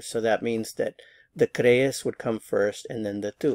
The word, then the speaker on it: crees: So the stress is on this first syllable, crees. Be sure to get the two E's in separate syllables.